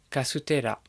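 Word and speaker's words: カステラ: Et les Japonais ont repris ce mot et vont dire kasutera. Les Japonais ont un petit peu adapté la prononciation de ce mot portugais pour que ça corresponde au son qui existe dans la langue japonaise, pour que ça soit plus facile à prononcer pour un japonais.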